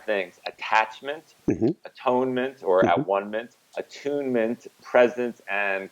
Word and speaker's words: atonement: And then there's atonement, or as you correctly pronounced it, at-one-ment.